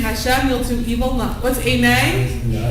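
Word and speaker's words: עֵינֵי: What's enei? Rhymes with b'nei.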